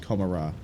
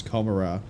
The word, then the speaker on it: Commorragh: pronunciation for Commorragh as Commorragh, but in that cutscene there we heard it as Commorragh, which is supposed to be more in line with sounded like Gomorrah from Sodom and Gomorrah.